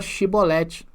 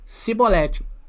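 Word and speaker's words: שיבולת: verdadeira identidade porque era incapazes de pronunciar a palavra chibolete olha só que interessante né Por causa do seu sotaque ao invés de chibolete os efraimitas pronunciavam cibolete soldado falasse Fala aí fala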